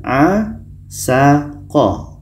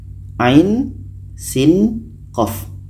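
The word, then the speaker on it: عسق: surah Asyura ayat 2 di sini bacanya bukan a Sa qo Ah bukan asaqo tapi dibaca satu-satu Ini bacanya Ain ini bacanya Sin ini bacanya qf Ain Sin qof dan untuk panjang Ain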